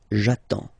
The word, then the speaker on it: j'attends: Okay, you get D and S, well basically you don't pronounce them, okay, and then you get only the sound attends, nasal here, en, j'attends, okay.